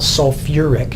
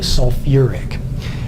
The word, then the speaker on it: sulfuric: here for a moment you'll notice that we took a syllable and put it back in so instead of having just salt thick acid which doesn't sound right we've called it sulfuric it wouldn't be completely